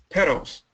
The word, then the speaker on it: petals: Petals. Many students did that. Pedals. Petals. Sounds the same. Sounds exactly the same. Pedals. Pedals. So, as an American, if you say pedal ped d a l, they'll write p e d a l.